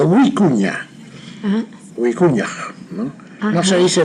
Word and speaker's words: vicuña: Tiene la doble V, no se dice vicuña, sino huicuña.